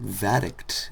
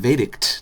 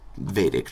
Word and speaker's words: Vadact: Island kind of thing I realized his name he pronounces it VCT I mean vict not V see I'm doing it again um so it's going to be vict from now on um so I'm here